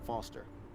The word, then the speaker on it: Foster: I'm Foster. I'll remember that easy because your name rhymes with fossil.